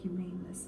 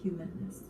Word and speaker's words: humanness: I feel like saying humaneness all the time, but it's humanness.